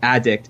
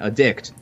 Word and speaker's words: addict: accent, you know, like the difference between addict and addict is just what syllable you emphasize.